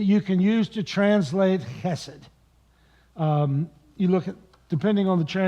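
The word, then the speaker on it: חֶסֶד: In Hebrew, the word behind mercy is chesed. It's a guttural sound, goes way back in your throat.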